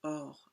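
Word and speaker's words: עור: Donc le mot peau en hébreu se dit or et ça s'écrit ein vavch. Et on sait qu'il y a un autre mot en hébreu qui se dit or aussi qui est la lumière mais qui en revanche s'écrit avec un alf.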